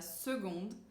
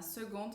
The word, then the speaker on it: seconde: O primeiro colegial corresponde à seconde, se escreve com C, mas a gente pronuncia com G.